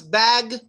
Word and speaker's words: bag: How do we pronounce bag? Well, we don't really say bag. We say bag, bag, bag. We actually pronounce the G sound just much less stronger, with less strength.